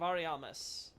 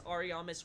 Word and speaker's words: Ariamis: It just says, is that not why this Ariamis world, or I should say Aremius world was created? The Aremius world. The idea, of course, being that Ariamis, or Ariamis, however it was supposed to be pronounced.